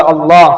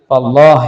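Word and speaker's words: الله: നാമം ഉച്ചരിക്കുന്നതിന് രണ്ട് രീതികളുണ്ട് ഈ നാമത്തിലെ ലാം എന്ന അക്ഷരത്തിലാണ് ഉച്ചാരണ വ്യത്യാസം നമ്മൾ അള്ളാ എന്ന് എഴുതുമ്പോൾ രണ്ട് ലാം കൂട്ടിയിട്ടാണല്ലോ എഴുതുന്നത് അള്ളാ എന്ന് ഒരാൾ പറയുമ്പോൾ തന്നെ അതിന്റെ മഹ്റജ് എവിടെയാണ് ലാമിന്റെ മഹ്റജാണ് പല ആളുകളും അള്ളാ എന്ന് പറയുമ്പോൾ പല്ലിൽ തട്ടി പറയാറുണ്ട് അത് ശരിയല്ല അത് തെറ്റാണ് അള്ളാ എന്ന്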